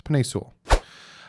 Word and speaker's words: Penei Sewell: Some people say his name wrong. It's PENEI SEWELL.